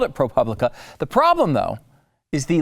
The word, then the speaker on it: ProPublica: and you can reach us with tips at propublica at our service page ah okay so it